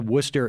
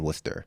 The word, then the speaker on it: Worcester: went to college in Worcester you did not that one that one in Ohio so oh they're pronounced the same spelled entirely differently that's correct different state